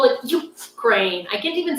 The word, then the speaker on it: Ukraine: When my like pet peeve is when people call Ukraine Ukraine. I don't understand why. Like, it's not like you can't pronounce Ukraine, right? Like you have to just, it's just a stress on the wrong syllable. Like you enunciate Ukraine, like crane.